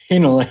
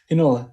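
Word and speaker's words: Heinola: We've only got 2 games, but Nola? Hinola, yes. Hinola.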